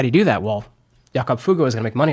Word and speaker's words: Jakob Fugger: But the German pronunciation is Jakob Fugger.